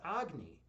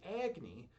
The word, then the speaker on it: Agni: Some people pronounce the actual Hindu pronunciation of Agni is Agni, but I pronounce it Agni. And so people kind of say it both ways.